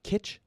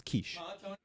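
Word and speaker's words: quiche: But what about what about like the like breakfast pie that's spelled with a Q? Do you call it kit? Yeah, it's kiche.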